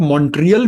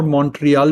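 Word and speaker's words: Montreal: इसका उच्चारण आप मॉन्ट्रियल भी कर सकते हैं और मॉन्ट्रियल भी कर सकते हैं, और जो स्थानीय लोग होते हैं उनको मैंने सुना है टी को साइलेंट करते हुए बड़ा जटिल होता है मॉन्ट्रियल।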